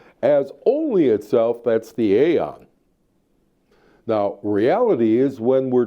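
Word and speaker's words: aeon: terms of singularity being an eon or as I pronounce it aon that is the one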